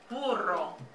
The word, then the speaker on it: burro: Both of those kind of make a softer B sound. It's not as hard as boy, okay?